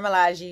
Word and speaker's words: Milaje: And Gurira plays Okoye, leader of the Dora Milaje. That's how you pronounce it? Yes, Milaje. the Dora Milaje, you got it.